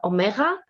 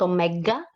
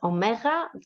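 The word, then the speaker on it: Ωμέγα: you we have to this one is called omega and not omega because it's who and not good it's omega the the name and of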